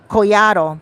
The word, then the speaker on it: Collado: Collado, because the two L's make a Y.